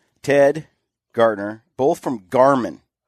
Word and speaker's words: Gartner: Ted Gartner, both from Garmin, right?